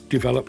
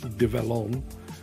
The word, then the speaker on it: Develon: few months later and somebody said it's um not develop it's develon on you get the